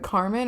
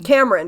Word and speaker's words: Cameron: Carmen or Cameron? Cameron. Did I say Carmen? Yeah, I think you did. Whoops, Cameron. It's spelled in a way that kind of looks like it could be either, so I have to like actually focus.